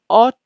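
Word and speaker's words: ought: Need to, অট টু।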